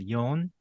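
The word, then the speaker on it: 四: sounds like death yeah she that sounds like death in Japanese that's why they also have yon as another way to pronounce four in Japanese I guess I don't know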